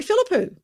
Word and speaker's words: Philippou: country and i am welcoming hello philippou good morning veronica and i congratulate you on pronouncing my surname perfectly not many can do